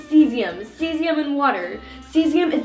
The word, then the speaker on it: cesium: it's water and this last one here is soothing which is this one say hello actually it's cesium cesium and water cesium is most alkali-based metals